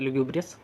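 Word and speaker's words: lugubrious: 70 number पे आते हैं लुग्यूब्रियस, लुग्यूब्रियस, इसका प्रोनाउंसिएशन भी यही होता है, लुग्यूब्रियस।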